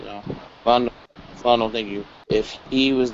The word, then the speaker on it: Philando: He was right in the position where if Philando, is that how you pronounce it? Philando, I think right now. Philando, thank you.